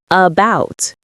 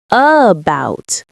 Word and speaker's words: about: It's the little uh sound like in about banana or teacher. It's soft and relaxed, not strong. Say about not a bout.